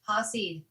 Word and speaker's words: Hasid: The word for pious one in Hebrew is Hasid, pronounced Hasid.